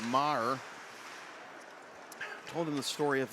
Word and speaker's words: Maher: Not Meager, but Maher.